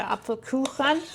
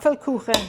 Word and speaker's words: Apfelkuchen: You mean the Apfelkuchen?